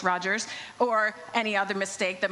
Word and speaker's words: Rogers: So it will no longer matter whether I've mispronounced your name as Rodgers when it's Rogers or any other mistake that might happen up here today.